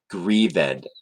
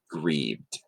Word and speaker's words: grieved: say it like that so any IDI word at the end you would say it with this stressed grieve ed not grieved okay so that would